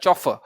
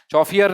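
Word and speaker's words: chauffeur: क्या देखिए, ये वो नहीं है, चौफियर नहीं है, ये चौफियर या कफर हम बोलते हैं, पता नहीं क्या क्या क्या बच्चे इसको कैसे कैसे बोलते हैं, कैसी कैसी प्रोनाउंसिएशन इसकी करते हैं। कफर कुफर कुछ भी नहीं है, ये चौफर है। क्या ही है, ऐसी साउंड आती है इसकी कुछ, चौफर, ऐसी साउंड आती है इसकी कुछ, चौफर।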